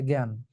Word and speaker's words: জ্ঞান: যেমন ধর শব্দের প্রথমে থাকলে জ্ঞ হয়। এই যে আমরা এখানে লেখাই থাকার কথা। এই যে জ্ঞান। শব্দের প্রথমেই আছে দেখো জ্ঞান। তাহলে এখানে শুধু জ্ঞা উচ্চারিত হবে।